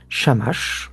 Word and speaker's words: Shamash: Shamache, le dieu shamache mesopotamien prononcé shamach aussi en aramien et en arabe actuel Shams c'est la même.